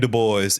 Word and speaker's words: Du Bois: people try to get fancy and they say Dubois Dubois yeah I always I always used to say that Twitter only taught me that it's a boy like he pronounced his name to boys yeah like the boys they should start